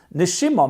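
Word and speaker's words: נשימה: So therefore in Hebrew the word for soul and the word for breath are actually the same word. They're just pronounced differently. Nishama is soul. Nishima means breath.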